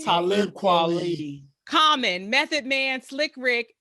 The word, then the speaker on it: Talib Kweli: How you pronounce his name? Talib Kweli.